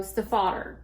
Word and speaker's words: Stiefvater: Well, it is German, and it is also German for stepfather. And she said how her husband, who got her to understand how to say it, was Stephen the Otter.